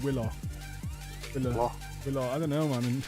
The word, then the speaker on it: Wilo: Now, I got told it was Willow, but is it Wilo? It's spelt Wilo, Yeah, isn't he it? doesn't But- care though, so I haven't. Oh, well. The fact that he doesn't care made me never sort my shit out with how to pronounce it. He doesn't care, neither do I. Exactly. It is Willow, yeah. If it was Willow, he'd have 2 L's and a W.